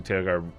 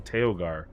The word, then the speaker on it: Tagar: carth uh and obviously tagar we talked about tagar I always want to call him tailgar uh can we move